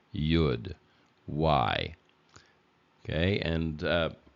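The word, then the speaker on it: יוד: is silent but otherwise if there's a vowel underneath it then you have to pronounce this as a why sound yud why okay and uh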